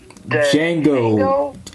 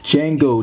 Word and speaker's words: Django: So yeah, for the father, which his name is Django. Dude, if you sorry, Django, the D is silent, for Christ's sake.